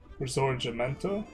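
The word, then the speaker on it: Risorgimento: The Italian and G is pronounced with a soft G. Resort Jimento.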